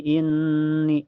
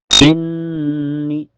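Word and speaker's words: إِنِّي: Ya quaumi inni inni. Setelahnya ada gunah musyaddadah karena ada nun bertasdid. Cara bacanya ditahan sekitar dua ketukan saja. Dan sebabnya sebelum nun bertasjid ada huruf hidup yaitu di Hamzah. Inni inni ni.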